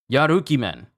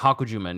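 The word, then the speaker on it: Yarukiman: correctly from Sabo sabot yaruki man yeah I said that name wrong it's not hakan it's yaruki man yaruki man mangr these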